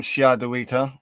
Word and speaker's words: Shadowita: So yeah, I am Shadowita, one angry pagan, and yes, that is how you say it. It's Old English. It's where we get the word shadow from.